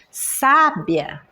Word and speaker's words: sábia: no primeiro a é porque a sílaba mais forte dessa palavra quando eu pronuncio é o o primeiro a primeira sílaba sábia e depois sabiá é a última sílaba Sabiá então a a e